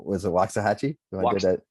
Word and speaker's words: Waxahachie: I forget, you have a store, and I keep mispronouncing. Was it Waxahachie? I did that. Waxahachie, good I did job.